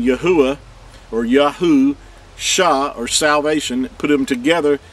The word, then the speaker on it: Yahusha: part so you have the name Yahweh or yahu sha or salvation put them together you have yahusha